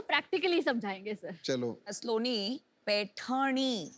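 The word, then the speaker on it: पैठणी: स्लोनी, पैठनी, वो जरा प्रोनाउंसिएशन इनका चेक कर दीजिए. पैठनी।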